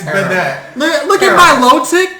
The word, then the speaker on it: Banette: Bananette. It's Banette.